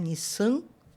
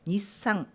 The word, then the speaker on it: Nissan: Você não vai pronunciar Nissan nazalando, né? Colocando um tio, mas é Nissan.